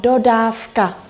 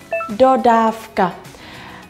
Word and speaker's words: dodávka: Dodávka, mình sẽ đọc là F, dodávka. Nhưng mà viết, mình sẽ viết là chữ V, dodávka.